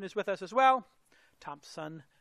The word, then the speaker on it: Thompson: Iain Thompson is with us as well. Thompson, no P in there.